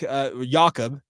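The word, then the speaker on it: Jakob: your name is Jake his name is yak yakob well it's German obviously German pronunciation of Jacob so why are we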